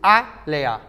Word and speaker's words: Alia: Alia pronuncia-se A-Lea. Ou seja, Leia, Alia, Leia.